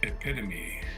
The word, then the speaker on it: epitome: It looks like epitome, but it's pronounced epitome.